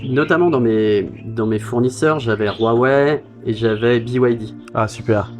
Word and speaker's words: Huawei: Tout le monde dit encore en France, ils disent encore Huawei ou. Ah oui. Mais donc ça se prononce Huawei pour votre audience.